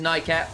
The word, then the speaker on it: Nymaera: You're right, it is Nymaera.